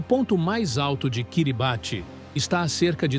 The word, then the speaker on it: Kiribati: Kiribate. Pronuncia-se Kiribati.